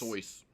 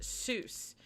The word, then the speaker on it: Seuss: out about his name um seuss is not pronounced soon it's soyuz yes and i didn't know that so can